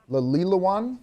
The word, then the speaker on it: Lawilowan: So I am joined by Arvel with now in advance, I've been working on the pronunciation of this, Lawilowan? Yes. Lawilowan American Indian Festival.